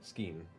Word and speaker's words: Skein: And I'm not gonna third- let my What's it friend called, Scheme? experience it alone. Skein. S-K-E-E-N. Skein. EIN. Thank I you. believe that's how it's spelled.